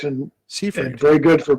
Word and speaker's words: Seifried: Just to be clear, your last name is Seifried, right? Correct, and Seifried. very good for pronouncing it correctly.